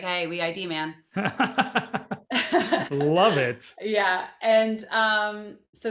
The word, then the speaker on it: Weidman: Easy way, because everybody gets it wrong, and it took me like 20 some years to figure that one out. We ID man.